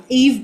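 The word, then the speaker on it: Yve: Eve Blake is one, which is spelled Y-V-E, Blake.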